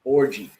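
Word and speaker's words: Orji: last name is o r ji and it's pronounced orgy I was dying like how in the hell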